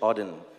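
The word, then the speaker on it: Auden: So So it's a part of a poem from WH Odin. That's how you pronounce it.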